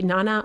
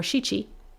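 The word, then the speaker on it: 七: 7 could be nana or shichi, again, depending on your situation.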